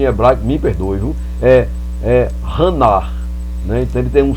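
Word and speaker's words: חנה: da palavra Ana ela ela vem com o h com o som de R 1 h no final né então vou tentar pronunciar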